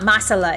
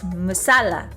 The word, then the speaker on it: masala: You emphasize the second syllable. Oh, tikka masala. Ah, musala. Ah, I see. It's not masala. It's musala.